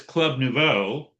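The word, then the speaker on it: Club Nouveau: I've got Bill Withers and this I guess it's Club Novo. Yeah, that's how you pronounce it.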